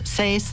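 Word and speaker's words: Seass: She was born in Arthur, and her last name, I don't know exactly how to pronounce it. It's S-E-A-S-S, Sace.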